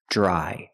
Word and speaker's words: dry: Remember dr together makes a juj sound like juice and jump. J-j dry.